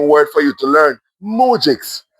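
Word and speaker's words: moujiks: He saw they were all mujix, simple peasants. Well, you you you know there's a new word for you to learn. Mujix. It is spelled M O U J I K S.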